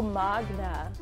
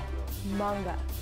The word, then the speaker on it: manga: Oh, Magna. Manga.